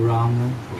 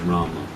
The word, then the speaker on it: Rama: Well, in my opinion, the full Sanskrit pronunciation is Rama. The Bengali pronunciation may be Ram. In Bengali and Hindi also, the M in itself constitutes that akshara. So when you say Ram, the A part of the Ma is understood.